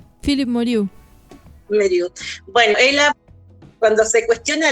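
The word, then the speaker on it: Meirieu: Philippe Merieux, ¿cómo se pronuncia? Philippe Merieux.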